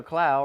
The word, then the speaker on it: Clow: Taylor Clow rhymes with Powell.